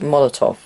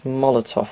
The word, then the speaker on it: Molotow: I think it's called Molotov. It's spelt Molotow, but it's Molotov, I think.